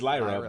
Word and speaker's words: Lyra: I swear to God, I will pronounce her name right one day. But is it Lyra? Is Lyra right? Lyra. It's Lyra, but Valkyria always.